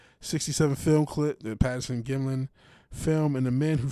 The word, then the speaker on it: Gimlin: Norm Johnson had been working in a Boeing lab during the years that the Patterson Patterson Glim Gimlin film. Sorry, I keep mispronouncing his name.